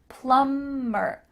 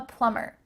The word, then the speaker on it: plumber: secretary i'm a plumber make sure that the b is silent plummer i'm a plumber i'm an electrician electrician